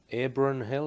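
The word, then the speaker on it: Abronhill: This was at Abron Hill, is that the correct pronunciation?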